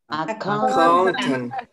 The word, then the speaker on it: accountant: Y luego, por último, palabras que tengan la entonación en la sílaba del medio, como accountant.